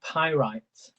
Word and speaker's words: pyrite: Oh, I can't even pronounce this. I'm going to type it in, but it's actually pyrite.